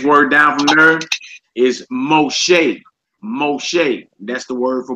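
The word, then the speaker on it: משה: The next word down from there is Moshe.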